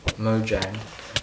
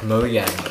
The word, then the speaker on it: Mojang: you that's sh you it's pronounced Mo Mojang I thought it was pronounced like moang or something I mean I I say Mojang but I see people say like mo mo Yang so I don't know